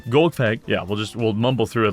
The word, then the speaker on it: Golgfag: I gotta stop putting emphasis on the last part of the first name. Golgfag.